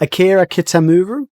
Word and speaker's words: Kitamura: Oh wait, sorry, I'm not going to pronounce it. It's Akira Kitamura.